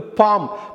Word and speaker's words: palm: அடுத்து நம்ம பார்க்க போகிற இன்ட்ரெஸ்டிங்கான ஹோமோனிம் வந்து பாம். PALM, பாம். இது ஏன் இன்ட்ரெஸ்டிங் அப்படின்னா, PALMனு அதை வந்து ஆக்சுவலாக எழுதணும், உச்சரிக்கிறப்ப அந்த எல் சைலண்ட்டு பாம்.